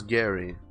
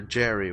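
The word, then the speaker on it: Gerry: say how to pronounce Gary I won't watch that video but I'm gonna keep saying Gary or rather Jerry with a J sound and tiger you're doing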